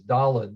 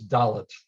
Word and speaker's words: Dalet: And I'm going to say why some of us grew up thinking that the letter is Dalet when it really is Dalet with a T sound at the end.